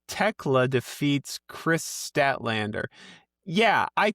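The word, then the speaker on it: Tekla: No, Techla. I'm sorry, I keep pronouncing the H. Techla defeats Chris Statatlander.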